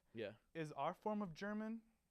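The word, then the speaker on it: Jermyn: German it is pronounced German even though it's spelled I mean I guess it's spelled it's pronounced it's spelled like how a rapper would spell German yeah like that's j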